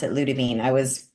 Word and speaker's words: Ludivine: And so it's a French name and so that's in France they pronounce it Ludavine. I was pronouncing it Lud Divine as my ever American self for a while and then I heard someone actually from France say it.